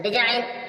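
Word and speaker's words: design: मीस विदेश यहां पर जो जी है वो साइलेंट है जी को नहीं बोला जा रहा डिजाइन डिजाइन मीस नमूने या रचना यहां पर जी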